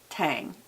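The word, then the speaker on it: Tsang: Her name's Lindy Tang. T-S-A-N-G. I think that S is silent.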